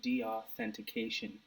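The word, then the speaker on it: deauthentication: office a dioff attack basically how do you say it de-authentication the authentication attack that's the correct way to say it so basically um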